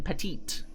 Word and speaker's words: petit: stops but you know they don't pronounce the second tea in petite or petit so i'd miss